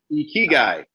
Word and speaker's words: ikigai: Ikagi? No, ikagai? Ikigai? Ikigai.